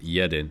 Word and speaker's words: jeden: of my main issues I always pronounce the J as a j instead of a y so it should be pronounced yedin if I'm correct but I'm still trying